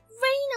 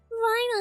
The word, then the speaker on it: Reina: is the hand rhino it's not that hard to pronounce reyna what's up with british people is pronouncing my name this was absolute chaos